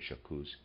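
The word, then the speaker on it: J'accuse: u e excuse me I'm going to pronounce that jacuz he says and of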